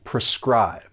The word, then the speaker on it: prescribe: Now this verb has 2 syllables, and the stress is on that second syllable, prescribe.